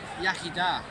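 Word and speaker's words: Iechyd da: Yaki da.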